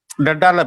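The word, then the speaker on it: debtor: நான் வந்து டெட்டார்ல பியை வந்து உச்சரிக்க கூடாது.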